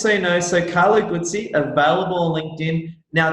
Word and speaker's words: Guzzi: And just so people know as well, so it's Carlo Guzzi, Guzzi, is that right? Yeah, no, you've got the pronunciation right.